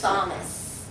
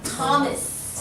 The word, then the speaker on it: Thomas: this is always a silent totally filipino see Thomas Tom Thomas Tom and it's not an all right everybody